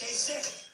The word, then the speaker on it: Kasich: It's I-C-H. Every time I see it, I say Kasich. But it's pronounced Kasich.